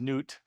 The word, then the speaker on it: Nut: And I know it looks like nut, but it's pronounced newt.